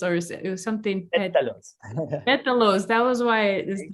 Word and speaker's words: pétalos: Pedales or something. Pétalos. Pétalos, that was why the O at the end that messed me up. Tiene pétalos de caléndula en el té y es muy lindo.